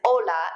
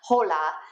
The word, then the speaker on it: hola: a little pronunciation reminder remember that you don't pronounce the ages when they come at the beginning of a word like hola is hola and not hola just like Aura is not hora okay Perfecto